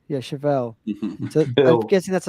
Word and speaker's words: Chevelle: Chevelle. Yeah, Chevelle.